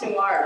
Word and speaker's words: Noir: So as far as the record, it's pronounced noir, right?